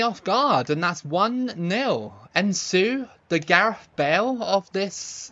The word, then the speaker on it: Nsue: Ensue, that's how you say it.